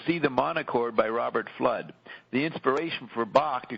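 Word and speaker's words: Fludd: may not have uh heard her pronunciation flood f l u d d so Roxy says and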